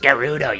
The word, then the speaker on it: Gerudo: It's pronounced Gerudo, you stupid Maybe we should make her work for the great Ganondorf.